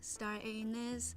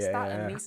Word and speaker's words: star anise: Star anus being star anus. Star anus. You pronounce star anise means toki. Star anise and star anus. Very different thing.